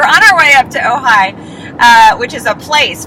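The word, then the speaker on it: Ojai: up um we're on our way up to ohigh uh which is a place for people who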